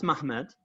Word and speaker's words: Ma'amad: It's pronounced Mahamad, but it's actually spelled Mahamad.